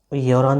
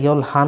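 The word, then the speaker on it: 열한: আচ্ছা ইয়ল হান উচ্চারণ হবে না, হ্যাঁ মনে রাখবেন। রিউলের পরে যদি হিউত থাকে, রিউলের পরে যদি হিউত থাকে তাহলে এই হিউতটা সাইলেন্ট হয়ে যায়, তখন এই রিউলটা উপরে চলে যায়।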